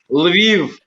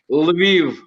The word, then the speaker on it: Lviv: pronounce that? Lviv. Lviv.